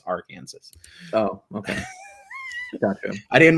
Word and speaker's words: Arkansas: But he was obviously pronouncing it wrong. It's Arkansas.